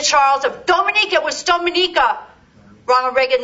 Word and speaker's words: Dominica: that's a Hispanic Island Dominica is English speak he couldn't even pronounce the goddamn name of the island it's Dominica it's it's Dominica there I go anyway